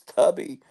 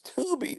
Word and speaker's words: Tubi: first saw it, I thought it was Tubby. Then my wife says, "No, it's Tubi, like the tube, like the boob tube."